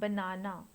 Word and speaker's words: banana: unstraight sounds for example the word banana has stress on the second syllable no banana so in banana bur